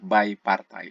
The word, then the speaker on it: bipartite: graf berbobot bipartite ataupun Kalau bahasa Inggris nih Bacanya adalah Bay partai a matching maksimum dalam